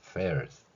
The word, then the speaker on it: fairs: fairs, 페 발음에서는 윗니로 아랫 입술을 물고 소리를 내는 방법입니다. 또한 ers 이렇게 발음할 수 있는 것이죠.